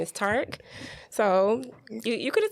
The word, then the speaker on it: Tariq: just said his name is tark so you you could have told me i was pronouncing your wrong but listen